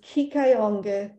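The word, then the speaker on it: Kiihkayonki: not quite pronounce the way you've heard people pronounce it but that red dot is kikayonge present day Fort Wayne Indiana at the top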